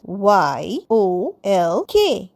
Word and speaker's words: yolk: Next YOLK yolk. yolk কিন্তু নয়.